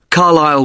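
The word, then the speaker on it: Carlisle: i s l e you don't pronounce the S carile way and that's in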